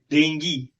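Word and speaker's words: dengue: हिंदी में बोलिए वह डेंगू से मर गया, ठीक है, ऑल राइट। जब इंग्लिश में बोल रहे हैं तो से डेंगी नॉट डेंगू, तब कृपया डेंगू मत प्रोनाउंस करिए, उसको डेंगी प्रोनाउंस करिए।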